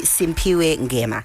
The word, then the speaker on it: Simphiwe Ngema: So it's actually Simphiwe Ngema. Yeah? Yes. Did I say it correctly? Yes, you said it correctly.